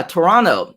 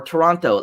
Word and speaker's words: Toronto: toronto toronto ah yeah toronto or toronto like it's like saying what or what right sometimes we say the t and sometimes we don't but i also know